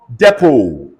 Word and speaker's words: depot: Depot. The T is silent.